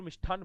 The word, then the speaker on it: मिष्ठान: जैसे थोड़ी देर पहले मैं कह रहा था मिष्टान, होता तो मिष्टान है, बोलते मिष्ठान है जोधपुर मिष्ठान भंडार, करणी जोधपुर मिष्ठान भंडार है, गणेश मिष्ठान भंडार, ऐसे मिष्ठान, जबकि होता क्या है तय, मिष्ठान।